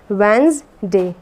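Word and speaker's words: Wednesday: Okay, और जो डी होता है ये साइलेंट होता है। जो वेंसडे में जो डी वर्ड होता है ये साइलेंट होता है, डी को हम प्रोनाउंस नहीं करते।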